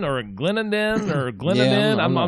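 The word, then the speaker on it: Clendenin: And I'm not really sure how you say it, if Glendinning or Glendenden or Glendenden. I'm not really sure. Just how you say it? Glendinning. Glendinning. Okay, and that particular place has been absolutely it's you can't even imagine.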